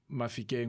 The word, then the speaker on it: Mafikeng: So certain clans within the Tswana language have different pronunciation of words. So Mafikeng or Mahikeng is where largely the Baralong people reside, and parts of their dialect is to use a H instead of an F.